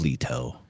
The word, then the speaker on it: Leto: It's Leto, but I like to say Leo.